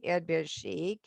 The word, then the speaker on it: Erdbeershake: So shake is borrowed in, so it gets an basically English pronunciation, Erdbeershake.